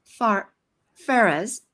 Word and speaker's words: Farah: going to look at Farah's, and it's like Farah Fawcett is how you say her name, and she is behind the scenes.